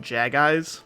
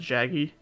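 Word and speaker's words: Jaggi: I used to call them Jag-Eyes back then instead of Jaggy.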